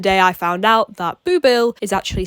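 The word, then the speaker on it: Boublil: today was the day I found out that booill is actually spelled b o u b l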